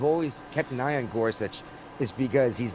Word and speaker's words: Gorsuch: How do you pronounce that name? Gorsuch.